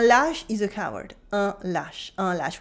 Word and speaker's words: lâche: Un lâche, un lâche. We have an accent circonflexe on le A, but it has no influence on the pronunciation.